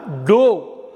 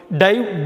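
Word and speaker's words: dove: டிஓவிஇ அப்படின்னா டோ அப்படின்னு ஒரு அர்த்தம் இருக்குது. டோ அப்படின்னு உச்சரிக்கணும், ஒரு உச்சரிப்பு டோ. டைவ், டோ, டிவன்.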